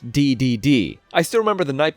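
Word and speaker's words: Dedede: properly pronounce his name for years I thought it was DED not DDD I still remember the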